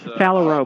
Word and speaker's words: phalarope: I can't pronounce it. Yes, phalarope.